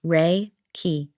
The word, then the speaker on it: Reiki: Pronounced ray key.